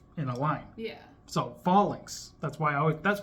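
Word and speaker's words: Falinks: a has an official I've heard it pronounced failinks but I can't remember why and I kind of like what you said so yeah I say I say fall links because I think like fall in line and they're all in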